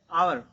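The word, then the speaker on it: hour: देखिए पहला letter H है, फिर भी हम यहाँ पे एन का प्रयोग कर रहे हैं क्योंकि इसका प्रोनाउंसिएशन जो होता है वो है आवर।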